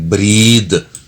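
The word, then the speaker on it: breathe: number 23 पहला है बेटा ब्रेथ और दूसरा है ब्रीद बोलने में फर्क है स्पेलिंग का फर्क है पहले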